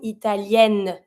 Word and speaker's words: italienne: Un italien, une italienne. Same thing. I don't say italienne, but I pronounce my N.